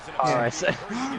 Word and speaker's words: Kairi Sane: But, So you mean Kairi Sane, right? Yeah, Harrison. Yeah. Yeah. Kairi Sane.